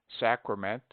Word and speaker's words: sacrament: We pronounce sacred with A long, sacred, but the derivations are properly pronounced with A short, sacrament, sacrifice.